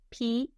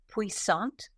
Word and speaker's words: puissant: It is originally from the French, and it is spelled P-U-I-S-S-A-N-T. Puissant, or if you like to put a French on it, puissant.